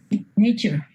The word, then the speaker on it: nature: Nature. Nature. O sea, ustedes aceptan que la T con la U suena como ch. Y no tienen ningún problema en decir nature.